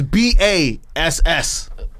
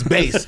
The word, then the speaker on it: Bass: Yeah, that's BASS. Customs, and it's not Bass, it's Base.